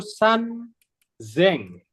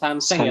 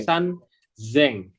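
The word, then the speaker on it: 三千: 8.000 Oh I 3.8.000 yang 3.000 itu San Zeng bukan seng ya tapi San Zeng Oke 3.000 sanzeng Terus yang selanjutnya di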